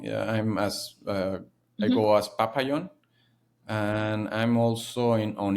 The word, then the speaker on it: Papayon: yeah, and the pronunciation is different Yeah, of in course it every is. language. So it's Pap- papayon, Papayon.